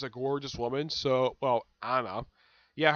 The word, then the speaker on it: Annie: gorgeous woman so well Anna yeah her name is pronounced Anna because I've heard she's actually